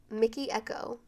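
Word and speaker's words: Mikky Ekko: the week we have Stay by Rihanna in Mickey Echo Mickey spelled with 2 K's so it's m i k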